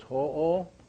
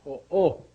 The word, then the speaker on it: ho'o: So it's Ho'o. This right here is an Okino mark. And so it means to give that O a punching sound. So it's Ho'o. Ho'o.